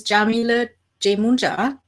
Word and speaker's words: Jamila Jamuna: want to introduce myself my name is Jamila Jamuna that's how you pronounce it I'm a spirit guide